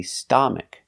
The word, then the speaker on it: stomach: not a like father it's not an a it's a short sound uh like cup and up and cut uh St St stomach stomach put the stress on the first syllable stomach stomach a closed sound